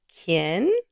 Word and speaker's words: quién: The little key illustration is there to help you remember the pronunciation. Say it with me. Quién? Quién?